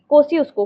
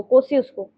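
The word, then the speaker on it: Kosciuszko: कोसी कोसी कोसी उसको कोसी उसको कोसी उसको Z साइलेंट है।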